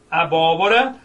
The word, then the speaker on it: abóbora: Abóbora só é acentuado por quê? Porque eu tenho Rá, Bó, qual é a sílaba tônica? O primeiro Bó, última, penúltima, antepenúltima. Quando a sílaba tônica for a antepenúltima, ou seja, a sílaba que pode ser prolongada for a antepenúltima, então a palavra ela é proparoxítona.